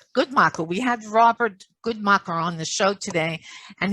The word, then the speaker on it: Guntmacher: is always open well we had robert and pronounce ephraim your last name good morning right good michael we had robert goodmaker on the show today and he really gave